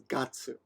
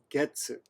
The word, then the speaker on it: 月: And when it is used to signify the January, February, March, etc., you pronounce it as gatsu. Okay? However, when it's used to measure a time period, like 1 month, then you use getsu.